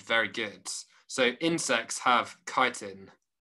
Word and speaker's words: chitin: So your teacher pronounces it chitin with a ch. Chitin? Nah, they're definitely not saying it right. It's chitin.